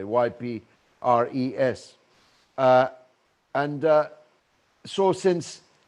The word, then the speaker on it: Ypres: first wife had been blinded by gas at uh ibrah the battle of iprav i'm pronouncing it properly ypres uh and uh so